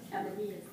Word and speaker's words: Cabanillas: The L's are pronounced like E's in Spanish. Cabanillas.